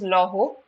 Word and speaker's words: Laurent: Okay, so Chanel and Saint, this is pronounced as Laurent, created trousers for women.